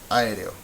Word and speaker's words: aéreo: Which one is the loudest one? Aéreo. Aéreo. Aéreo.